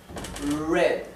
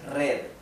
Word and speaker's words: red: Read, red, red. No es red, es red.